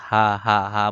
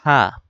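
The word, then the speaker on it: ح: ভেতর ঢুকানোর জন্য অনেকে হা বলতে থাকে আইন আইন আইন আইন বলতে থাকে গলার ভেতর আর ঢুকায় না গলার ভেতর ঢুকিয়ে হা আইন হা আইন এভাবে উচ্চারণ করতে হবে আর এটারে সা বলে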